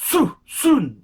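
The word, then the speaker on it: Söhne: Lange and Sohne, and it's pronounced Sohne. It's got the omelettes on the O to give it a ooh something like that.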